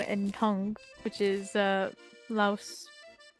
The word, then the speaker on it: Laos: It's Laos or Lao. It's spelled Laos, but pronounced Lao. Hey, Lois. And not Lois.